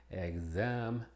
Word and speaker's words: exam: Y como GZ antes de una vocal acentuada. De ahí que pronunciaríamos exam, exactly.